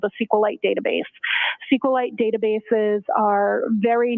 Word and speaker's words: SQLite: lowercase i t and sqlite uh is also commonly pronounced as esite so both pronunciations are acceptable there was so much